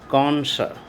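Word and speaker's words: connoisseur: यहाँ पे देखिए किस तरह से इसका स्पेलिंग है। यहाँ डबल हो रहा है एस। And number 6 कॉन्सर।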